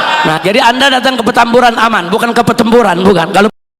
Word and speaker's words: Petamburan: Di mana jangan salah sebut petamburan bukan petempuran. Sebab dulu ada jenderal salah baca. Dia bacanya pertempuran.